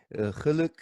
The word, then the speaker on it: Gelok: So I know that there's a lot of mispronunciations on the already established but mispronounced Gelok. There's Gelok, Gelok, Gelok, I'm sure. But you said it's Geluk. Geluk.